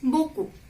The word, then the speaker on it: beaucoup: Third, merci beaucoup means thank you so much. So here I haven't pronounced P. It is beaucoup.